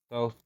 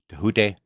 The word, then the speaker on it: Thoth: Thoth, Thoth, Thoth, Tehute, however you want to say his name. Those are all correct ways to say it.